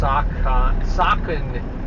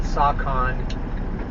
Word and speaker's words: Saucon: I think it's pronounced Saucon, probably not Saucon.